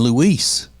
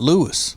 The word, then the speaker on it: Luis: But like that fellow named Luis, not Lewis.